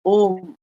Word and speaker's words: ओम: उत्पन्न हुई और उस ध्वनि की आवाज़ थी अ, उ, म। यानी जिसको संयुक्त मतलब पूरा मिला दिया जाए अगर तो होता है ओम।